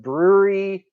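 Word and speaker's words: Bruery: talk is on the brewery YouTube channel that is BR u e ry if you're not familiar with them it's not spelled like the word actual word brewery so go to the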